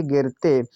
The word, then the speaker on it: गिरते: यहाँ पर है GIRATE, पढ़ेंगे गिरते, तो जी से तो होता है गा, आई से छोटी की मात्रा, आर से रा होता है ए साइलेंट, टी से ता, ई से ए की मात्रा, हुआ गिरते।